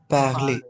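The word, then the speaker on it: parlez: हूं पी ए आर एल ई जड this is also again पले ई आर एंड ई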